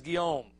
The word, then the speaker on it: Guillaume: It's spelled Guillaume, but he says Guillaume. All right. Alfred Guillaume translated Sirat Rasulullah.